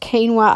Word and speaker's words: quinoa: I love quinoa and I spelt quinella but pronounced quinoa I love that oats again nuts seeds a